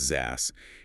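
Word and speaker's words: XaaS: Yeah, anything is a service or ZAS pronounced ZAS is just a catch-all term for the huge variety of services delivered via the cloud.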